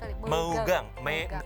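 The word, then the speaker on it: meugang: ada tradisi megang-megang demi bacanya megang-megang tulisannya megang-megang dari Aceh tradisi ini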